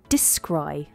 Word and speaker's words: descry: Yes, the pronunciation is deh, scry, descry.